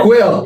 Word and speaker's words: Kuel: Kuel, yes. Quill.